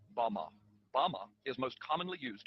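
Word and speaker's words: במה: which Satan fell is strong Hebrew word 116 pronounced Bama Bama is most commonly used to refer to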